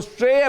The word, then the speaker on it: SREI: हमारे साथ हेमंत कनोरिया साहब जुड़ रहे हैं, chairman and managing director SREI, जिसको वो श्रेय प्रोनाउंस करते हैं।